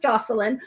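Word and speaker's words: Joshilyn: awesome is it jocelyn it's spelled josh j-o-s-h-i-y-n so she pronounces it jocelyn okay joshua and jackson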